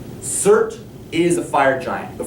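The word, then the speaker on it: Surt: s u r t rhymes with dirt C is a fire giant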